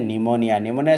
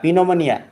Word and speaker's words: pneumonia: मृत्युवरण करता ना plan निमोनिया spelling is more important okay spelling कौन PNEUMONIA निमोनिया ओके तो गोटे पिलाटी मत कही पिनोमोनिया माने मत बहुत जोर हस लगी सी कही पिनोमोनिया बट इट हम निमोनिया PNEUMONIA okay Where did